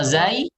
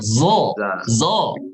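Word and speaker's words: ز: Kalau dari sisi tebalnya, sod isti'la, kalau zai sifat. ifal. Jadi jangan antum baca begini. Au. Ya, tapi az tipis. Za, bukan zo.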